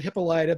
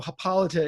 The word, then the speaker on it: Hippolyta: it led to this ongoing debate, of course, about how do you pronounce it. And I always called it Hippolyta, but I know Hippolyta is the way a lot of Mhm.